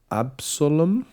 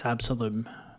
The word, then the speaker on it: Absolum: it, but that's uh how are we going to pronounce it? Let's say absolum. It's absolum. Absolum like absolute.